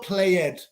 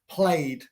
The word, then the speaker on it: played: the E for example played in El pasado play played no it's Lloyd at the end or play it play it no existing played ESO is played scared come on tengo